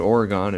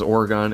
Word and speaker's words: Oregon: I know it's pronounced Oregon. I have no excuse or justification.